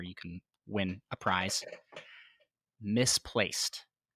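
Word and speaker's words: Mysplaced: can win a prize misplaced and that is spelled m-y-s-p-l-a-c-e-d isn't wanting to read it as myspaced yeah yeah is an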